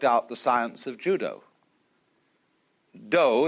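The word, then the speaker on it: 道: the science of Judo doe is the way the Japanese pronounce Dao ju means gentle Judo The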